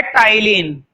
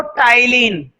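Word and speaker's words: ptyalin: Spelling जरूर देख लेना, यहां पर पी साइलेंट है, क्या पढ़ते हैं इसको, टाइलिन, ए भी साइलेंट है एक्चुअली, टाइलिन, ठीक है। तो पी और ए को भूलना मत।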